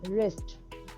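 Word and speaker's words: wrist: कर सकते हैं है तो रिस्ट में व नहीं पढ़ा जाता अब है हथेली को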